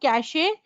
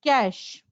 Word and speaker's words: cache: is cash memory right it's not cash a it's cash it's cash memory right any other word that